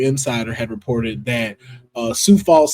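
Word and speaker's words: Sioux Falls: had reported that uh Sou Falls South Dakota has their own con which is a um Super Con, but you know it's spelled like Sue.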